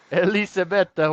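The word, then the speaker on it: Elisabetta Cocciaretto: You're saying Elizabeth, but you're saying it in in Italian. Elizabetha. Yeah. Elizabetha. Elisabetta.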